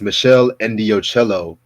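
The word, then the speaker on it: Meshell Ndegeocello: one of the Proto Neo Soul albums it's Michelle ello with peace Beyond passion and yes I did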